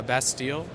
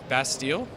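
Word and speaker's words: Bastille: i i just got a new band uh best deal uh is a band i just uh downloaded it best deal maybe i'm even saying it wrong i have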